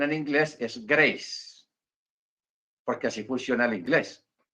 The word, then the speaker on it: Grace: graas Así se escribe Generalmente gra pero la pronunciación en inglés es Grace porque así funciona el inglés yo por eso